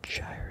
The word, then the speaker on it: Gyre: Ulamog, the Infinite Gyre, I think Gyre is how you pronounce it.